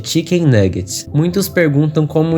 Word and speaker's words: Chikn Nuggit: Seu nome inspirado em frangos empanados, como conhecido aqui no Brasil, e em inglês com a mesma pronúncia de Chicken Nuggets.